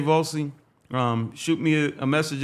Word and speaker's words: Volcy: well actually folks my name is vossey I'm gonna spell it for you guys because a lot of